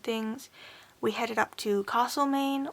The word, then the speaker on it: Castlemaine: After the op shopping and things, we headed up to Castlemaine, or Castlemaine as some people pronounce it, and we did a little bit of shopping around there.